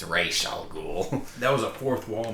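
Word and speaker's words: Ra's al Ghul: Gordon as the new commissioner and he Terry pronounces it as razal ghou correct she corrects him she's like everyone thinks it's pronounced razal goul but it's actually pronounced raal ghoul that was a fourth wall moment the the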